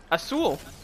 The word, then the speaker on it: azul: wrong say it again I saw a soul Azul drag out the L at the end not that long that's true Azul I